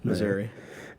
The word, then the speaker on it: Missouri: And our first one today is out of Kansas City, Missouri. Is that how you say it? No, Missouri. Like misery? Misery.